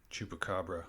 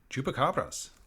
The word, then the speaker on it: chupacabras: oh chupacabra or chupacabras Spanish pronunciation chupacabras literally Goat Sucker from